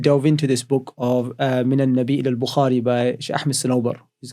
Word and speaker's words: من النبي إلى البخاري: من النبي إلى البخاري by Ahmed Sanobar. That's how you pronounce it.